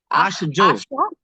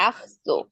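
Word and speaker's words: ach so: সি এ আছে হ্যাঁ এ থাকলে তো অবশ্যই তাহলে খর মত উচ্চারণ হবে এ ও ইউ থাকলে খর মতো আর ই আই থাকলে তাহলে বস মতো আখসো আকজো এস ও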